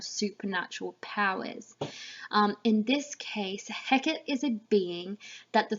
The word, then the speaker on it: Hecate: to circle the name Hecate it's pronounced Hackett in this play and write down that